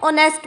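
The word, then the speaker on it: honest: ईमानदार को इंग्लिश में ऑनेस्ट बोलते हैं। यहाँ पर एच साइलेंट होता है।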